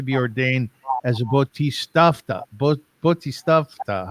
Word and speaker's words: Bodhisattva: Bodhisattva. How do you say that? Bodhisattva.